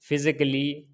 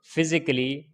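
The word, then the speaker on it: physically: For example जैसे romantically, क्रिटिकली, फिजिकली, म्यूजिकली, इसके अंदर डबल एल वाई से पहले ए आया है, ये साइलेंट है। रोमांटिकली पढ़ेंगे इसको, क्रिटिकली, फिजिकली, म्यूजिकली।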